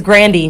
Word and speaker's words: Grande: saying her name wrong you know who else's name we say wrong ariana grande it's not grande it's granny yes yeah cause she